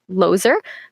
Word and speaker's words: Lozer: If you can remember my first name, you'll remember the last because it's Lozer, but it's still spelled with a Z instead of an S. So it's like loser.